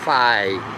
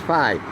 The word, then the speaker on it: Fi: uh I'm getting a Nexus 6p and project five in other words that's capital f i I thought it was fi but as I've heard watching the watching and listening to the YouTube tutorials it's pronounced five for twenty dollars a month gives me Unlimited